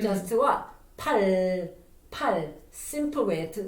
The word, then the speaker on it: 팔: And even though you roll up the tongue, it almost kind of make R sound, but not exactly R. It's a simpler and then less complicated R.